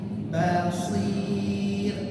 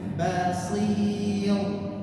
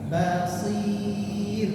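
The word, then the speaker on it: بصير: basir b ba basir basir dan rabnya dibaca tipis jangan basir. Nah itu salah basir dibaca tipis.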